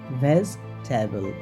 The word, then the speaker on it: vegetable: vegetable it's not vegetable it will be pronounced like veg table okay on the next